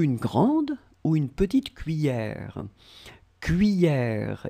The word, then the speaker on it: cuillère: But still, normally this E-double-L should be pronounced like yeah. Remember? So, cuillère. And we don't emphasize on the final E is mute, so basically it's cuillère.